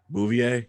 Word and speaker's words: Bouvier: who might also be curious how do you pronounce a gar sells last name Bouvier got it that's how you say it okay